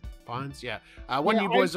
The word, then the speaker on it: Fiennes: um with ralph fiennes i think it's pronounced uh yeah fines yeah uh when you